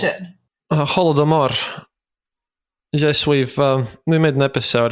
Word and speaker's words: Holodomor: How do you pronounce it? Holodomor.